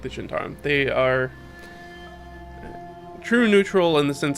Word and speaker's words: Zhentarim: something like Forgotten Realms Zhentarim. The Zhentarim. Or Zent, or however you want to say it. I think it's Zhentarim, though, is the appropriate pronunciation.